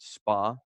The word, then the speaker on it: SPA: and look at what SPA they live in. SPA is pronounced spa in Los Angeles.